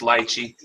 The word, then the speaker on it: lychee: It's pronounced lychee. No, lychee, whatever. Lychee.